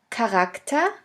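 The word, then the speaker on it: Charakter: in the third case the ch can also be pronounced like a k if it is at the beginning of a word here we have the example of the word character character which means character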